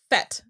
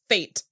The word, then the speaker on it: fête: I think I've always thought it was pronounced fête. Oh, okay. Meaning party. I think it's French.